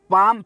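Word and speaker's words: palm: हैं अब है पाम पाम का पाम पाल्म नहीं होता पाम पाम यानी पाम का मतलब एल साइलेंट है जहां पे पाम का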